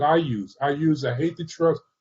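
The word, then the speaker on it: HathiTrust: use i use i hate the trust some people pronounce it haiti trust digital library and i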